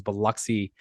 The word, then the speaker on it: Biloxi: think was I think the latest one was Biloxi um is that how you say it I